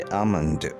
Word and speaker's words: almond: हमारा आज का आखिरी वर्ड है almond. ALMOND almond. आमंड बादाम को कहते हैं और इसका एल साइलेंट है, लेकिन अमेरिकन इंग्लिश में हम इसको आलमंड भी कह सकते हैं।